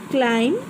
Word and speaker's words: climb: Climb, B.